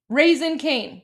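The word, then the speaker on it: Raising Cane's: Pronounced raisin. Okay, I appreciate that. Um, raisin. Thank you. Thank you, Americans. Raisin cane.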